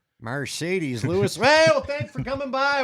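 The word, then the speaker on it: Marcedes Lewis: Mercedes Lewis.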